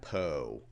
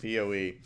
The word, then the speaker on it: PoE: sorry what oh that Poe excuse me well here's your first lesson on power over ethernet you don't pronounce it po you do pronounce it Poe and sorry for the